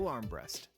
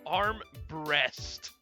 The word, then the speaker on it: Armbrust: I'm Armbrust. What? Can we get a replay of that pronunciation? My man went, I'm Arm Breast. Not Arm Brust, Arm Breast.